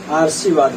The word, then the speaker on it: आशीर्वाद: रेफ वाला रा जो होता है, वर्ण जिस वर्ण के ऊपर आता है उसके पहले उच्चारण किया जाता है। अब जैसे यहाँ पे सा पे आ गया तो इसका उच्चारण सा से पहले होगा ना, तो आप सा से पहले जब उच्चारण करेंगे क्या आशीर्वाद हो जाएगा।